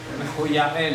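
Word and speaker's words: מחויאל: Mejuyá El, en hebreo. 4:18. Mejuyá El. Voy a escribir la pronunciación correcta.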